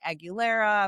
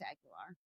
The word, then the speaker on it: Aguilar: It's funny because a lot of people would say Aguilera. Of course, when Christina Aguilera was very popular. But you said it right. It's Aguilar. Very good.